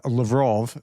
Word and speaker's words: Lavrov: Now, Lavrov was uh being interviewed and he said uh Lavrov is the way it's supposed to be pronounced. I've I've pronounced it wrong for years.